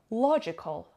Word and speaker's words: logical: gotta forbid number four logical logical logical logical it has three syllable and the stresses on the first of all logical means